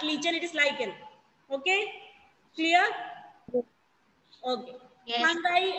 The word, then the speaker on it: lichen: Some people pronounce it as lichen, but it is not lichen, it is lichen.